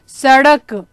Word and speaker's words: सड़क: क्योंकि ड के नीचे एक बिंदी लगी हुई है, इसलिए उसका उच्चारण हम कैसे करेंगे? सड़क, ठीक है बेटा?